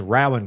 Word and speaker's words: Rowan: It is Rowan County. W R R O W A N. Row row. No, it's Ralph.